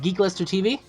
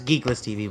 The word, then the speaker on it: GeekList TV: down below and uh geek list I believe I'm pronouncing it right geek Lister TV it's geeklist TV but you're good geeklist TV